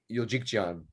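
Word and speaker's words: Euljekjian: Yuljikjan.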